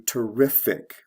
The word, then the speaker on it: terrific: And the stress shifts from the first to the second syllable.